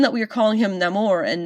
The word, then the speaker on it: Namor: him Namor and not Namor, even though half of the cast still said Namor for some reason, is because he was called a child without love. El Niño Sin Amor. Namor. There you go. Say it right!